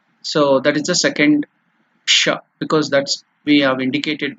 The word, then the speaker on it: ष: By pronouncing it, you have to touch the upper region of the mouth.